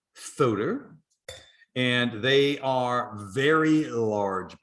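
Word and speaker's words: Fuder: the week the filter so that is pronounced photo and they are very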